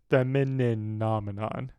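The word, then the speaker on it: Femininomenon: I'm missing a syllable on that every time I say it. I just say Femininominon. It's Femininominon.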